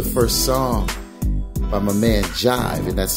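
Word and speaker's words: Jhyve: All right, let's jump into the first song by my man Jive, and that's spelled J-H-Y-V-E, and it's called Play Safe.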